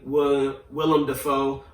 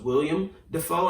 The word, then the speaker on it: Willem Dafoe: but anyway alec baldwin willem dafoe who i just learned how to say his name correctly if you just heard me i was about to say it incorrectly again i thought it was william defoe and i'm sure a